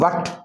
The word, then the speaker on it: what: अब WHAT वट, H silent है।